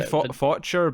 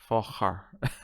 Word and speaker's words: Faucher: It could be Faucher, but I don't think it is. I feel like Focher is the correct one. And I'm really emphasising my pronunciation. It's that stupid movie with Ben Stiller. It's Meet the Parents. The sequel was Meet the Fockers.